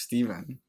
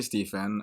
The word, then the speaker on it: Stephen: A lot of people might be like, wait, I thought his name was Steven. But it's actually Stephen.